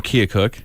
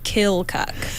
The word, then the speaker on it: Keokuk: his entire life says kill cuck there's no l in the spelling of Keokuk however he insists that that's the correct way to say so what is it